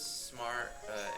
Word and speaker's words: Sm4R: Welcome to this smart Sm4R. Is it called Smar? Like you say it like that, or as you say Sm4R? Smar's easier. Smar, makes sense.